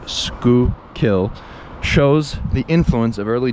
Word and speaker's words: Schuylkill: Indeed, the river's name itself, pronounced Schuylkill, shows the influence of early Dutch settlers.